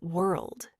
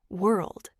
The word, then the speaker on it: world: For example, the word world. Many learners say it too fast and skip the sound. Try saying it slowly now. World.